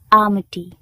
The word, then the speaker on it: almighty: Almighty. The L is silent.